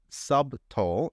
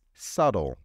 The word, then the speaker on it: subtle: subtle T now remember please that the bee is silent in this word so it's not subtle it's subtle subtle smile and subtlety thanks for watching that